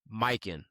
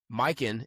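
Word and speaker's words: Mykyn: We want to show some love to our first ever sponsor, Mike. That's spelled M Y K Y N. Mikin is a high-end luxury eyewear brand focused on quality, craftsmanship, and timeless style.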